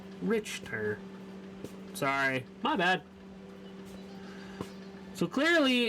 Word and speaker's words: Richter: decision to is play rick tur the h is silent like victor scale oh my bad richter sorry my bad so